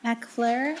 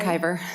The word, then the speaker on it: McIver: It's so sorry. McIver. McIver, thank you. Looks like an L.